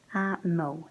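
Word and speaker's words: a mbó: possessive there how then it gets the ARU and so it changes the pronunciation to M so again like I said easier to remember than the changes because you just change the pronunciation to the first letter to your room ah mo their cow next we have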